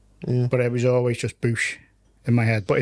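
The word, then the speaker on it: Boush: common yeah um and apparently in that it's pronounced Boosh there you go God so what pronounced in a comic no the audio the audio books but there's also there's also you can like look at like Star Wars Wikipedia with a dictionary definition breakdowns of it and it'll be b-o-u-s-h and then it'll say pronounced b double o b o o s h he's thinking he's thinking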